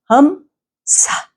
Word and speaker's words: Hamsa: Então, faz Hamsa. Dessa forma, né? Pronuncia bem forte o Ham e depois o Sa, mais forte, para criar uma vibração